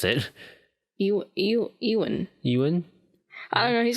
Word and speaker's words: Ewan: It was his name Evan. Is it Ewan, right? Now you're questioning how I pronounce it. Ewan. Ewan? I don't know. He's got a weird name. It's not Evan. I know that.